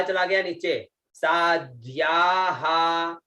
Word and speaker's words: साध्याः: फिर आता है सा आधा द आधा ध और या और विसर्ग, उच्चारण साध्याः, तो सा चला गया नीचे, साध्याः है ना, साध्याः ऐसे, साध्याः।